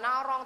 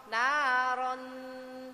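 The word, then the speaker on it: نَارًا: naron tal naron jadi Bukan naron Biasa Bukan narong tapi naron kita masukkan kan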